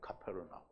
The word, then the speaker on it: 카페르나훔: 가버나움이라고 하는데는, 가버나움은 이게 우린 번역으로는 그냥 가버나움인데 본래 히브리어 발음으로는 카페르나훔이에요. 카페르나훔. 그럼 카페르라는 말은 무슨 말이냐면 마을이라는 뜻이고요. 나훔은 위로를 주고 안식을 준다라는 그런 의미가 있어요. 그래서 가버나움은 안식의 마을이에요.